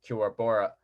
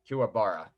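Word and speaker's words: Kuwabara: Kiwabora. Is that how you say his name? Kiwabora, Kiwabora, Kiwabora, Bora, Bora. No, not Bora. Bara. Kiwabara. Yeah.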